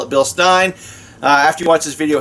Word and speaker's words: Bilstein: community tab on my channel asking how you pronounce Bill Stein some people call it bill steam I call it bill Stein after you watch this video head on I'm